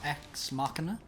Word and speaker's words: Ex Machina: So we watched them two, and then we watched Ex Machina. Yes. Is that what it's pronounced? Ex Machina, yeah.